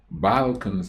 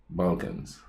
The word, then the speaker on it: Balkans: Okay, something, now, some people said that, it's Balkans and not the way I pronounce it. Now, my A's sound kind of different. I know it's it's an A there, but it sounds like I'm saying Bul, B-U-L, but I'm actually saying Balkans.